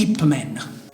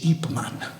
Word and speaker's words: Ip Man: visto il film di Hip Man non si dice hip Man si dice ipman perché ben scritto come Superman Superman quello era ipman non